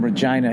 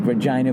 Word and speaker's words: Regina: did two shows in Regina, and neither one of us went with the easy joke. Nobody did the stupid, it rhymes with fun. Nobody's like, Regina, vagina, what's up with that?